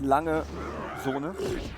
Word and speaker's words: Lange: jp lang and seoul it's lange that sounds i think it might be because it's german all right well l